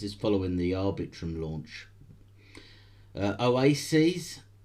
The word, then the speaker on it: Oasys: Oasis, that's spelled OASYS, has managed to get Japan's SoftBank as a network validator.